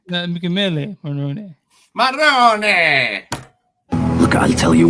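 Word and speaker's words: Michele Morrone: And that next name you pronounce in the Italian way. Oh, so it's Michelle Marrone. Michele Marrone.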